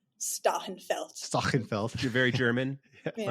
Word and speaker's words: Stachenfeld: I say Stachenfeld with a nice New Jersey accent, but I think it's really like Stachenfeld.